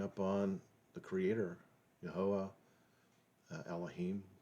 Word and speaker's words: Elohiym: on the Creator, Yahweh, Elohiym, which actually I've just recently learned would be maybe better pronounced as Elohiym.